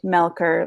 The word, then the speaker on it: Melcher: It's not sounds like Melur, ch, but it's pronounced Melker like a K.